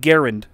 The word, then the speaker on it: Garand: __ ] m1 garand actually it's pronounced garend like aaron fun fact are you